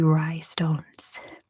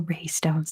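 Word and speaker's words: Rai stones: to Lionheart it is the rhye stones were raystones depending on your pronunciation they used gigantic round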